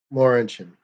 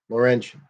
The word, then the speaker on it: Laurentian: Laurentian. Laurentian. That's how it's pronounced in Canadian cars.